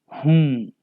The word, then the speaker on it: हूँ: Whom. Whom is how we say am in Hindi. The last N in whom is pronounced nasally and carries a slight N sound. It is like a short N sound.